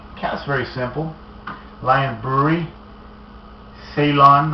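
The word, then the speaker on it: Ceylon: very simple lion Brewery Salon I guess is how you pronounce it I believe that was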